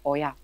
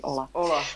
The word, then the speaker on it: olla: A vlastně takže jako správná výslovnost toho slova je oja. A my jsme si ale v tom světě permakultury se tady tenhle ten název ujal právě jako termín pro označování tady této technologie, této nádoby. Takže my jsme si to potom vzali i jako název, přijali jsme to prostě do češtiny, ale říkám, vyslovujeme to česky ola.